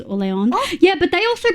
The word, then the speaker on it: Orleans: I mean, it's named after the French region of Orleans, which is Orleon.